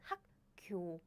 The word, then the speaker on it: 학교: 학교 is easier than 학교, 학교, 학교, 학교, 학교. It happens very naturally. The second word too.